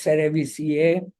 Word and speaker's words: cerevisiae: It's pronounced as cerevisiae.